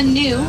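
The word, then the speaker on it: gnu: They're also known as the new and that's spelled G N U after the grunting sound they make.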